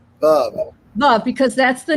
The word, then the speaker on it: Veuve: We've been calling it Veuve Clicquot, but it's pronounced Veuve. Veuve, because that's the name of the originator's wife.